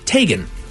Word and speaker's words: Teigen: It's actually Teigen. Teigen. Chrissy Teigen. Again, you can correct us.